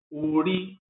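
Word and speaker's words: òrí: Nós temos ori, ori, com tom baixo e alto, para identificar manteiga de carité, banha de ori.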